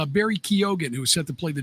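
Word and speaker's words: Keoghan: It's Barry Kyogan who set to play the drummer in this film. Wow. Yeah. I believe that's pronounced Keegan though, even though it has an O in it.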